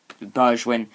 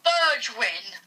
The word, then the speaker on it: Bergwijn: Tottenham 2, Manchester City 0, with goals from the legendary man, the debutant, Bergwijn.